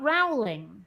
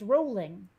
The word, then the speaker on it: Rowling: face um JK rolling it's not Rowling it's rolling I actually had a